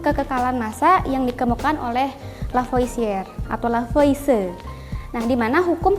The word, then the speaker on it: Lavoisier: kekekalan massa hukum kekekalan massa ini dicetus oleh lavoisier Hai lavoisier ditulisnya lavoisier dibacanya itulah Voice yang kedua itu hukum perbandingan